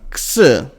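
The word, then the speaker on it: ξῖ: And the next one, ks. Well, there is not an exact equivalent of this sound in English, because X in English is, in the beginning of words at least, it is pronounced more like Z. Like taxes. Yes, like tax. That would be a good example. It is X. And it is pretty much the same as in modern Greek.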